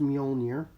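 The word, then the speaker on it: Mjölnir: This is Thor's Mjolnir keychain, and yes, it is pronounced Mjolnir.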